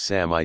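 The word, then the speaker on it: Samye: was after a while given the name of sanyang or three Styles which in tibetan is pronounced Sami 25 though it was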